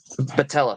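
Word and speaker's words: Boutella: Patella, thank you.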